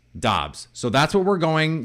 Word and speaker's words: Doubs: about Romeo Dobbs Romeo Dobbs it is apparently pronounced I've been saying dubs remember I started saying daubs then I thought it was Dobbs then all